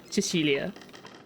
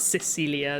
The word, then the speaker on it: Cecilia: it in Italian though I was pronouncing it in the English way but in Italian we would say Cecilia not Cecilia I don't know no